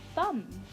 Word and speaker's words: thumb: for map and for thumb. So map, thumb. You can see the sounds are spelled differently. The for map is M and the for thumb is MB. The B is silent.